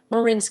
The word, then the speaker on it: Marin: john walker lind as some misguided marine county hot tubber as a reference to the county's liberal hippie political culture mispronouncing marin as he did so outraged by the